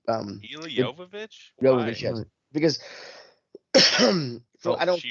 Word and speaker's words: Jovovich: Is that how you pronounce the last name? Mila Jovovich? Jovovich, yes.